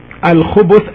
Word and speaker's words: الخبث: Al-khubuth, as it's pronounced now by me, al-khubuth with the ba, with the letter ba taking a dhamma, as you can hear me, al-khubu, khubu, al-khubuth.